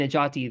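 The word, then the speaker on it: Necati: If you go to academia.edu, and you'll find Najati there. It's spelled, for those who don't know, Najati is spelled N-E-C as in Charlie, A-T as in Tom, I.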